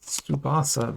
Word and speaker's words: Tsubasa: Let's open another Captain Tsubasa, which is, I'm pronouncing that Tsubasa, but it's spelled TSU. TSU is a phenome that is pronounced kind of like suit like that. And it's a common phenome for Asian languages, but not so much in English languages. So we're not used to saying that sound as often, but in